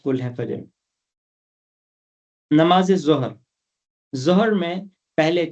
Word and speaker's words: ظہر: یہی ہیں، ہم فجر، ظہر، عصر یہ کرتے ہیں، یہ اس میں جو دوسرا حرف ہے وہ ساکن ہے۔ فجر، ظہر، عصر، مغرب،